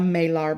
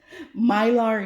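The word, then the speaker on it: Mylar: pour that into a Marar bag. What is a Marar bag you ask? And I'm probably saying it wrong. Myar. It could be myar and I'm saying Mar is probably myar.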